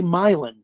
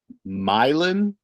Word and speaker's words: Milan: agent stifles his laughter the agent pronounces it correctly myelin you mean milon is that nice the